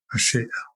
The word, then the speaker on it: achèvement: It comes from the French word achèvement. I will pronounce it properly.